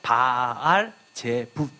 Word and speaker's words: 바알제붑: 영어로는 베엘제붑이라고 써 있지만 사실은 이 히브리어로 보면 이 오른쪽부터 읽었을 때 이것은 베라고 읽지 않고 바알제붑 이렇게 읽습니다.